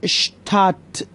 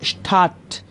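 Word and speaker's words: Stadt: کنید اشتراس و شهر اشتات، اون دی هم تقریبا تلفظ نمیشه، اشتات، اشتات، شهر، دی اشتات.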